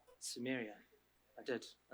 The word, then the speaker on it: Samaria: Samaria.